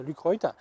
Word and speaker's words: Lucroit: Celui de Lucroy, ça s'écrit, enfin c'est Lucroy, a l'avantage de ne pas vignetter dans les coins.